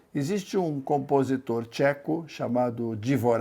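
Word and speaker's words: Dvořák: um compositor Tcheco chamado divor aqui eu vou usar aqui na pronúncia mais correta original a que compôs n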